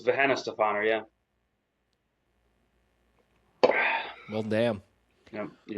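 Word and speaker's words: Weihenstephan: And it's how you pronounce that? It's Venna Stefan.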